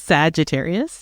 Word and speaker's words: Sagittarius: Sagittarius, yeah.